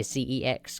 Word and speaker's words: CeX: to my local second hand game shop uh cex or as the whole country calls it sex but it's not sex because it's c-e-x not s-e-x it's not sex so i say c-e-x because it's bit weird saying sex no because